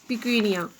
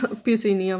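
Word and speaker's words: Puccinia: members are Agaricus, Ustilago and Piquinia, or you can pronounce Pucinia, whatever you want.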